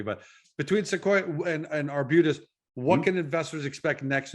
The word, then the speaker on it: Arbutus: between sequoia and arbutus i i was pronouncing arbites before you before you corrected me but between sequoyah and and arbutus what can investors expect